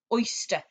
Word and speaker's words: oyster: from last week oyster oyster now be careful with oyster because it's got the er sound at the end but it's not today's er just a confusion just